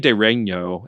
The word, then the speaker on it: De Regno: I mean, the GN in Latin is sometimes pronounced like the GN in Italian by people more in medieval studies or more ecclesiastical circles, but they're saying it just fine.